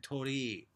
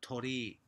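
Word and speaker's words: 鳥居: But the difference is that tori, I might not be able to do it justice, bird, there's only one I at the end, whereas tori for the pi symbol temple, you know, poles, have a double I.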